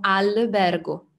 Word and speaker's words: albergo: è il fatto che in portoghese la l alla fine di una sillaba diventa un e quindi voi dite a umberger e noi diciamo albergo è una questione del portoghese che fate in automatico magari senza pensare bene ma che in italiano non esiste quindi separando pensando film